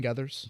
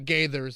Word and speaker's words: Gathers: of Clayton gathers yeah he spelled her name wrong he pronounced it might be pronounced Gaithers you know so he GAE it's Gea so andrew luck goes i exclamation point gathers not Gaithers apologies whitney come on